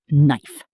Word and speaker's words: knife: The K is silent. You just say knife.